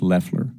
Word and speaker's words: Loeffler: The administrator's last name is pronounced Loeffler.